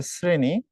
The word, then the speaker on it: শ্রেণী: দুইভাবে হচ্ছে তালব্যসটাও দেখো আমি যখন বলি হচ্ছে শ্রেণী তখন তালব্যসর উচ্চারণ হয়ে যাচ্ছে স এর মত তালবস্যর ম্যাক্সিমাম জায়গায় তুমি